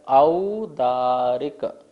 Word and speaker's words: औदारिक: देखिए यहाँ पर क्या लिखा है, औदारिक। औ बोलना है, औदारिक नहीं बोलना है, औ बोलना है, ओ नहीं है, औ है।